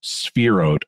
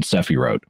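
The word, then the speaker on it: Sefirot: look like sefi wrote right but it's actually pronounced spheroed rather than cepherot and um one of the most common images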